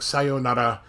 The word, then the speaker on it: sayonara: And we can see that in a lot of people know some basic Japanese words like sayonara, and they'll say sayonara.